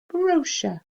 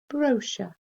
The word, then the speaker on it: brochure: good to me okay so here we've got bro like in brother bro shh uh that split diagraph er on the end and our last one